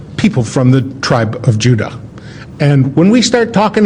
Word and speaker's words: Judah: were called Benjamin and Judah more properly pronounced yudah because we didn't get the harder sound to the J until about 200 years ago so this is